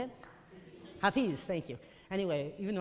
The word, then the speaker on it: Hafiz: Hafiz, thank you.